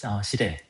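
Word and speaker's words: 司令: 사령, 시레. 일본어로 발음으로 시레라고 그러고, 사령이라고 그러죠.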